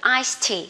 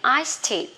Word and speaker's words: iced tea: Tại vì ở đây là iced và ở đây cũng là chữ tea, thì mình đọc liền luôn iced tea các bạn ha. Khỏi cần đọc là iced tea, cực lắm, đọc liền iced tea.